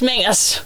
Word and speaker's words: Mengers: I don't know if I pronounce the last name correct. Maybe you. It's Mengers. Mengers.